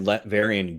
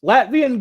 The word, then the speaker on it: Latveria: We were watching something the other day that had Latverian goats. I don't remember that. It was Ernest Saves Christmas. Latvian goats. I'm like, it's pronounced Latveria. Latveria.